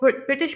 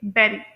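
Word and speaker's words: bury: तो British pronunciation में इसे प्रोनाउंस करेंगे बेरी।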